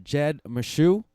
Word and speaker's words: Jed Meshew: Jed Meshew. Did I pronounce that correctly?